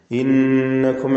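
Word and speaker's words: إِنَّكُمْ: ലിഖൗമിഹി ഇന്നകും. ലിഖൗമിഹി എന്നതിലെ ضمീറിന്റെ ദീർഘമാണ് മദ്ദുസ്സിലത്തിൽ കുബ്ര. 4-5 ഹറക്കത്തിന്റെ അളവിൽ ദീർഘിപ്പിക്കൽ അനുവദനീയമാണ്. മദ് മുൻഫസിൽ ജായിസ് എന്ന വിധിയാണ്, അതിന്റെ നിയമം തന്നെയാണ് ഇവിടെയും. ലിഖൗമിഹി ഇന്നകും. ഇന്നകും എന്നതിൽ നൂനിനെ മണിക്കണം, നൂൻ മുശദ്ദദ.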